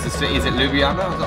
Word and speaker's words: Ljubljana: It's been a year almost since I was playing in, I don't know how you pronounce the city, is it Ljubljana? Is that how you pronounce it?